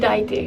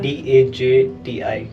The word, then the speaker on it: Dajti: Mount Daite. Mount Daiti. Yeah. Okay, so for J you pronounce it with I, right? I think because Yeah. Dajti.